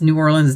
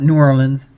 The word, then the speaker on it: New Orleans: I'd rather say NOLA because a lot of people pronounce New Orleans different. You know, you might hear me pronounce it 2 or 3 different ways. Because being from Michigan, I want to call it New Orleans, you know, because Michigan, we're heavy on the E's.